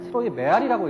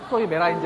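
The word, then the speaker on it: Träumerei: 물론 어렸을 때 저는 트로이 메라이를 트로이 메아리라고 읽었다가 나이가 들어서야 그것이 트로이 메라이인지 알았어요.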